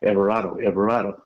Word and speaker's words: Everardo: Because, most people don't know how to say his name, Everardo.